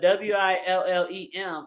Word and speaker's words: Willem: Man, It if y'all was don't they, know William Dafoe and y'all watching us right now, his first name is spelled Willem. So not yes, the normal William, but Willem, and then last name And D, Dafoe.